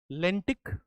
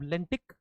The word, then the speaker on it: lentic: Lentic. Lotic. Now, lentic rhymes with the word static.